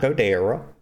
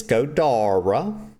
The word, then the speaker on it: Goda: all these words incorrectly his name is not God it's God okay that E is pronounced like an A don't ask me how